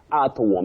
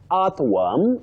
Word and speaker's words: earthworm: But many people say earthworm. It's worm. That O and R functions as a diagraph and takes the sound. What we call the long mid central sound. So you say earthworm, not earthworm.